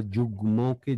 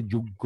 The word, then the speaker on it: যুগ্ম: একইভাবে অনেকে আমরা যুগ্মকে যুগ্য বলি, যুগ্ন বলি, যুগ্ন হবে না, যুগ্যও হবে না, কি হবে? যুগ্ম হবে, যুগ্ম, যুগ্ম, বাগ্মী।